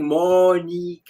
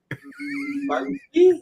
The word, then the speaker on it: Monika: She kept like, and she says it's like, and she was going Monika, and I went Monkey, and I kept calling her Monkey, and eventually she dropped off.